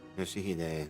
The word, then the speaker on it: Yoshihide: 아니, 그 글자는 그렇게 읽는 게 아니라 요시대라고 읽는 거다. Yoshihide, that's how you say it.